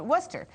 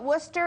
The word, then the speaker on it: Worcester: england outside of boston there's a town called worcester now you don't know to call it worcester unless you live there because it doesn't uh